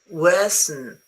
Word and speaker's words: worsen: And the N in this word is silent. Is it true or false? It is false. Worsen, you pronounce it.